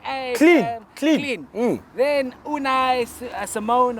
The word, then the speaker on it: Simeone: Then Unai, Simone or Simon, I don't know how to say it. That's Simeone, Yeah, you see what Did that?